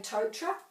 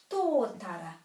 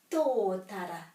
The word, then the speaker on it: tōtara: Here's one of our beautiful trees that most people say totra. This has a macron over the to. Tōtara. Tōtara. Beautiful word.